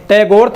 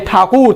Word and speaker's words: ठाकुर: तो आपको पता है कि शांति निकेतन की स्थापना करने वाले रविंद्रनाथ टैगोर थे, यानी ठाकुर।